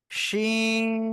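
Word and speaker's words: شين: তাহলে এটা কি হবে, শা শা শব্দ করে আওয়াজ করে উচ্চারণ করতে হবে এবং 3 আলিফ টান হবে। কয় আলিফ? 3 আলিফ। ওকে, মনে থাকে যেন আপনাদের, কয় আলিফ টান হবে? 3 আলিফ। শিন, শিন, জোরে জোরে উচ্চারণ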